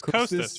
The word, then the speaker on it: Kostas: Is it I don't know how to pronounce it, but it begins with a K. Yep. Like it's Kostas, right?